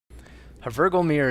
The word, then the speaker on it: Hvergelmir: a virgo mirror is the name of this map i believe that's how it's pronounced anyway this is a